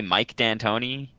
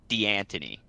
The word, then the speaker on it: D'Antoni: 99% sure it should be pronounced D'Antoni. That's why you put an apostrophe in a fucking name to denote like a separation. But no, there's like D'Antoni. Dude, we're in America. It's D'Antoni.